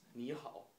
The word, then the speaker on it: 你好: So I'm going to teach you some simple Chinese, like it is thank you, and in Chinese pronunciation is 谢谢. It is 你好, which means hello.